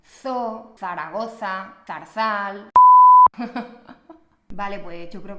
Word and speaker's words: Zaragoza: La Z se pronuncia exactamente igual que la C en español, ¿vale? Recuerda, za, ce, ci, zo, zu. Siempre. Zoo, Zaragoza, Zarzal.